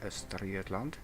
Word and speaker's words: Östergötland: That's how you pronounce it actually in Swedish, Östergötland.